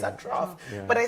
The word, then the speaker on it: trough: the central parishes and trough is the B of my existence the clinician at the time didn't pronounce the word trough trough he said Thro so for about a year